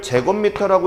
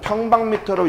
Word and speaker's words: 평방미터: 이거를 제곱미터라고 읽지 마요. 실무에 나와서는 평방미터로 읽으셔야 됩니다. 옛날에는 평에서 이걸로 바뀌었어요.